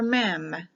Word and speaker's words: Mem: l m this is the letter m for mem m-e-m verse 97 is the letter m that